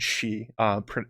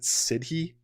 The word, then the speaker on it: Sidhe: or mythical beings called Shi. It's actually spelled Sidhe. People like myself who have seen that word in the past pronounce it Sidhe, but it's pronounced Shi basically.